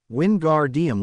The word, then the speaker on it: Wingardium: It's Wingardium Leviosa. Make the gar good and long and put the stress on the o in Leviosa, not the a.